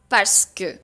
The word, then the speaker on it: parce que: The expression of course, parce que. Let's first quickly polish the pronunciation of parce que. Parce que. Parce que. Parce que. Parce que. But when we speak quickly, we say parce que.